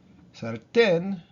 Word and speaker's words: sartén: Same thing with sartén. Sartén normally would be sartén, right? Because it ends in an N. But we put the accent on the E, on the last syllable, right? Sartén.